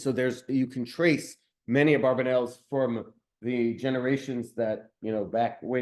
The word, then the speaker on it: Abravanel: his name is, because everyone usually uses the word Abarbanel, although the more likely pronunciation is Abravanel, which was actually not just one person.